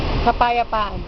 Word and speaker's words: kapayapaan: Oh, how do you say peace? Peace, Yeah. kapayapaan. Kampayatan. Kampayapa. Kapa, Kapa. ya, Yeah. pa, Pa. an. Oh shoot. That's it. Say it all together. Kapayapa. Kapayapaan.